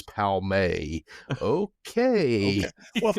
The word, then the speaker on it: Palmer: Even the name of Palmer is not Palmer, it's Palmay.